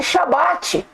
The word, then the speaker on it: Shabat: A nomenclatura do dia de guarda, irmãos, o nome dela, a pronúncia dela, tem que ser Shabat.